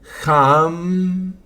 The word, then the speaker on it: ham: Jam sa. El ham nuevamente H a m se pronuncia J se alarga más la A y la m, pero es corto y